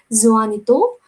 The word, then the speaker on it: Juanito: The pronunciation of this word should be Juanito.